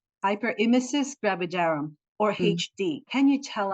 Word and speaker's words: hyperemesis gravidarum: well understood which is hyper ham gravitar oh my God please let me how do you pronounce that uh it's hyper imis gravidarum hyper imis gravidarum or HD can you